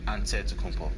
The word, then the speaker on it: Antetokounmpo: pronounce the it way you gotta say with the d so it's a deadpool but in the greek way you say with the nt like antetokounmpo whatever you got just